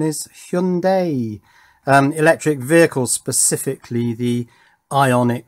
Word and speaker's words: Hyundai: It's an accessory for a Hyundai, or I believe the correct pronunciation is Hyundai, electric vehicle, specifically the Ioniq 5.